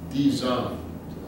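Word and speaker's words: 地藏: So Dizang, fourth tone for both. So it's like going down.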